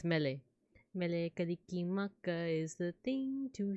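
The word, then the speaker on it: Mele Kalikimaka: I learned from a video that like Melekalikimaka is how to say Merry Christmas, cause it's like instead of an R, you replace it with an L.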